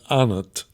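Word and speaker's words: אנת: Our tradition is that it's to be pronounced here as anat.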